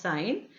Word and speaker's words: sin: I ne8 written as s I am still pronounced as sign is defined as length of perpendicular upon the